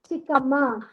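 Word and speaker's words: ಚಿಕ್ಕಮ್ಮ: the chat box यस चिक्मा very good okay it's चिकम्मा चिकका means छोटी कम्मा means mummy पर्वत या पर्वत रूपेश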